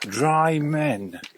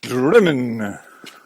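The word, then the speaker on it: Drymen: To look at it, it looks like Dry Men, but they pronounce it in Scotland Drimmen.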